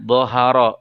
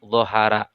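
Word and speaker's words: ظَهَرَ: bukan dibaca ra tapi ro, sehingga dibacanya dhoharo bukan dhohara. Selanjutnya dibaca tebal apabila huruf ro berharkat domah.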